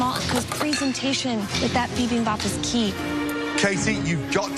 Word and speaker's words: bibimbap: and she's not going to have enough time to finesse them all, because presentation with that bibimbap is key.